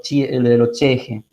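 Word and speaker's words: ch'ixi: años, y que es el concepto de lo cheje, ¿sí? Que se escribe chixi con X, ¿sí?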